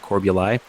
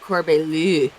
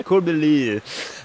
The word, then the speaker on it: Corbului: It's spelled Corbului, but it's pronounced Corbuli. One of those weird things. You know, in France, they pronounce it Corbelu. Yep. Yes, it's Corbuli.